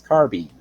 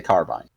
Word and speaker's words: carbine: It is based off the French word carabine. So technically you'd be right.